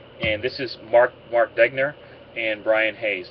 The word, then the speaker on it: Degner: this is Mark Mark degner and Brian Hayes did I pronounce that right degner yes you did amazing okay um the